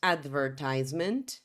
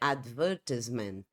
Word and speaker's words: advertisement: sílaba como por exemplo essa primeira aqui do inglês americano diríamos advertisement inglês britânico a pronúncia seria advertisement essa é a diferença